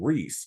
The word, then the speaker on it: Rhys: your name I love the name Reese and he's like only if we can spell it RH Ys and so that's so